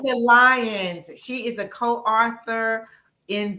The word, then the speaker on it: Venetia Lyons: Venetia Lyons.